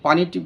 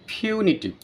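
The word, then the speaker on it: punitive: বাংলা অর্থ হচ্ছে শাস্তিমূলক এটাকে আমরা সাধারণত পানি টিপ বলে থাকি কিন্তু এটার উচ্চারণ হবে ফিউনিটিভ ফিউনিটিভ মেজা এই ডেমোলিশন কে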